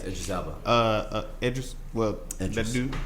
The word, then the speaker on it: Idris Elba: Yes, Idris Elba.